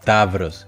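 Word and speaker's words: ταύρος: En el primer caso se pueden pronunciar como av, ev, como por ejemplo en las palabras tavros, que significa tauro, y pseudónimo, que significa pseudónimo.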